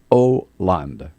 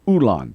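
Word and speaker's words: Hollande: name no he doesn't it's franois land Oland and he kept saying Anand he made it so much harder than it actually is yeah I thinkand he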